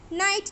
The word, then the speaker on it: night: Night, K is silent.